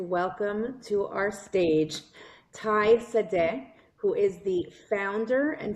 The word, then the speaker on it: Sade: I thought it was Sad and you said to me, "No, it's pronounced Sad."